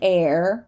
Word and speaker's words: heir: an archive archive archive here we're not going to say the H at the beginning of a word this is an air right an heir to the throne for example this is